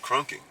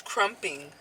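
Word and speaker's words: krumping: thought it was called crunking Crump it's like te crumpets yes it's crumping damn I thought it was crunking the whole time it made sense it's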